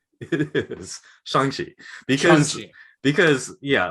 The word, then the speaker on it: Shang-Chi: to be the definitive youtube about how to pronounce chongqi's name it is shangshi because because yeah like if you read like